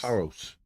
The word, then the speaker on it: Paros: They were leaving Sunday to go to Paros. Is that how you say it? They Paris? Paris? Paros. Not It's a, France. Not. it's a Aegean island, a Greek island in Oh, the okay.